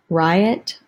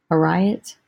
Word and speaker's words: Ariat: Riot. I think maybe the A is silent. A-R-I-A-T. A riot.